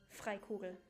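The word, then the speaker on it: Freikugel: a magic ax called fried kugel it's the hero's relic of house I love it when English vs try to pronounce German names fry cool would be the German pronunciation um but yeah allow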